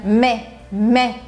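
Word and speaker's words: mai: curtinho a gente pronuncia mé então lenda que o aí vai ter um som de e né o meu modo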